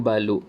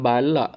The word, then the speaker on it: balok: Apa itu balok? Ini bukan balak, balak. Ini balok. Okey, ejaan dia BALUK, baluk.